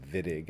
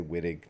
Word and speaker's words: Wittig: this is actually called vidig I guess in German with a V but um I might say wittig just because I'm reading